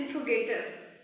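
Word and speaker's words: interrogative: इंट्रोगेटिव, इंट्रोगेटिव, इसकी correct pronunciation है इंट्रोगेटिव।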